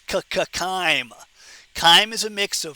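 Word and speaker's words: chyme: Now, the lumin up here would contain something called kime. Don't say chime. When we have the pronunciation test, don't say chime. It's ckime.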